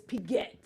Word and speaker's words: Piguet: Piguet. It's Piguet. You uncultured swine.